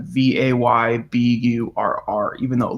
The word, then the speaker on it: Weber: thumbnail he has a German name and the pronunciation like I said already is Weber like vay bu are are even though it looks like Weber it's how we would pronounce it um no